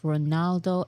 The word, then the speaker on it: Ronaldo: Here are more pictures of Ronaldo and Ronaldinho.